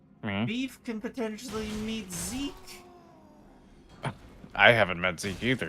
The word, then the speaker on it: Zek: Oh, it's Z-E-K actually. It's pronounced Zeke, even though it's more like Zek.